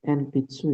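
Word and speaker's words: 鉛筆: Oke, untuk relatif seng kalau misalkan nih kayak gini ya, ada huruf N ada di depan huruf B, huruf P, sama huruf M, maka si N-nya itu dibaca M gitu ya. Contohnya kayak coba dibaca ee Latif dari atas contoh ininya. Ee itu harusnya dibaca N pitsu ya. Iya betul. Ee dia secara hiragana dia bacanya n pitsu gitu ya.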